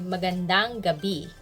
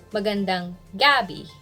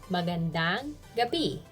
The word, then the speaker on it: magandang gabi: we say magandang gabi stress on bee don't say magandang gabi that's wrong because in philippines gabi is a kind of vegetable so if you say magandang gabi that's going to be a pretty vegetable which is not related to this topic so good evening is